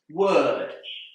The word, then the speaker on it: word: Word. Here, the O together with the R is pronounced and that's confusing because that sound is often spelled with an ER.